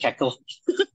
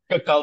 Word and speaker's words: Kekal: I mean, it's pronounced Kekal, but I think a lot of American guys would call it Kekal. But it's Kekal, the Indonesian band.